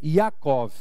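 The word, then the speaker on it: יעקב: o significado desse nome mas Jacó e a pronúncia até hoje em Israel é yacov significa aquele que agarra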